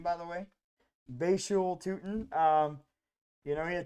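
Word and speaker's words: Bhayshul Tuten: good uh Basu toon I learned how to pronounce his name by the way bashu toon um you know he had 266 yards rushing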